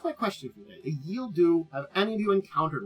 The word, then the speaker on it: Ghille Dhu: so who are the yield do and if you look at their spelling yes it is a sexy plan I'll explain it's spelled g h i l l e d h u yield do they are from the